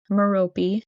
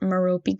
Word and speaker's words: Merope: Tom was born to parents Tom Riddle, who was a muggle, and Merope. Yes, that's how her name is said. I looked up the pronunciation, but Merope Gaunt, who was a witch.